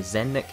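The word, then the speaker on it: Zelnick: 2014 when Take-Two's CEO, I think you pronounce his name Zennik, and he commented saying,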